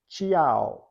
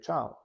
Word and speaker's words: ciao: then we should say ciao. But we don't say that. We say ciao. We go straight from the affricate sound ch to the vowel sound a. And that's because the I is silent.